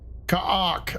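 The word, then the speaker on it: Kha'ak: leave him exposed to Ka'ak attacks. Ka'ark. Okay, that's how we pronounce it.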